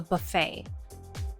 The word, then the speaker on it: buffet: the evening was a buffet yes the tea is silent in Buffet this is where